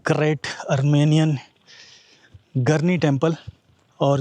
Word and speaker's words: Garni: और अभी एग्जैक्टली मेरे सामने है द ग्रेट अर्मेनियन गर्नी टेंपल। और जो अरर्मेनियंस है उसको गारनी बुलाते हैं basically. So whatever you can pronounce it's fine.